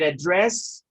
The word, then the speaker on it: address: So, but address is the verb when you have the stress on the second syllable.